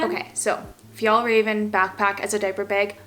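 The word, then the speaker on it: Fjällräven: excited about it is this how do you pronounce it if y'all Raven okay so if y'all Raven backpack as a diaper bag this is probably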